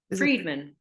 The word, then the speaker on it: Friedman: name too I want to make sure I pronounce right Friedman Friedman okay Friedman thank you all right